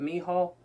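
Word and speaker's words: Michal: chip says me Hall which I always said Michael I used to always say Michael but we were looked up for pronunciation earlier and and said me Hall was how you pronounce it but me hall or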